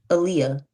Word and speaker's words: Aaliyah: Is that's how to pronounce your name? Aaliyah. Like the singer.